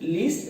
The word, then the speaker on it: lest: कहीं ऐसा ना हो, बच्चे इसको लीस्ट बोलते हैं। लीस्ट लेस्ट का सुपरलेटिव डिग्री है, लीस्ट का मतलब कुछ और होता है, सबसे कम के सेंस में जाता है। यह है, इसकी स्पेलिंग LEAST नहीं है बल्कि इसकी स्पेलिंग है LEST लेस्ट।